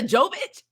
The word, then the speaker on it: Jovovich: But that movie is actually Mila Jovovich. Mila Jovovich. Yeah, there you go. I call Mila, her Javokovich, whatever, and just be tearing her name up.